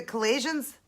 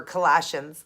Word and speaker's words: Colossians: it Colon's one five it's a collisions or Colossians sorry guys Colossians one five it